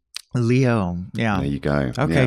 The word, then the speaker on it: Liot: just like to say well you know how to pronounce ballet and then all of a sudden it makes sense Leo yeah there you go